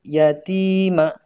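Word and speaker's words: اليتيم: Jelas juga dibaca alif lamnya ya. Fa'ammal yatima ya. Jadi alnya dibaca. Kemudian yang terakhir ayat ke-10.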